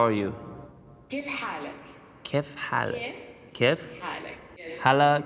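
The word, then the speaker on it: كيف حالك: Kif halak.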